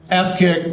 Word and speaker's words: AFCC: AFCC, F-kick, rhymes with ass kick.